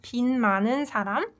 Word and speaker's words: 빚 많은 사람: So they're all pronounced 빚 많은 사람.